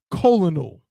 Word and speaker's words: colonel: it's colon cancer but this word c-o-l-o-n is not colonel somehow someway five excuse me I'm sorry four letters two consonants two vowels somehow are pronounced the same as this that has two completely